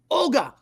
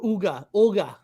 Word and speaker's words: Ogua: Ogua. Yes. Is it pronounced Olga or Uga? Olga, is that correct? Yeah, I think I've heard both.